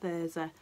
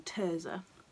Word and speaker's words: Thirza: about Thirza and why she thinks she's pronounced Thirza rather than Terza.